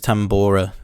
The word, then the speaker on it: tambora: uh what was the name of the instrument tambora that's how you say it just simple